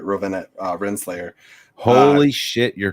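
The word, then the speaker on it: Ravonna Renslayer: I can never pronounce her name right. Rowena Renslayer.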